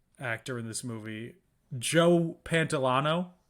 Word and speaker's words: Pantoliano: Also, the fifth starring actor in this movie, Joe Pantoliano. Pantoliano is actually how I pronounce it.